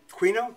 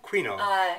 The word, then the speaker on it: quinoa: Quinoa? Quinoa.